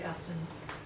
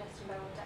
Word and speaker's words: Aston: One is an AHRC, and one is the Gertrude Aston Water. I never can say her name right. It's ASTON, right? No H. Yeah.